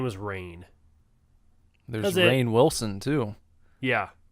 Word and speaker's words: Rainn: I've heard people pronounce it Ryan, but I think it's Rain.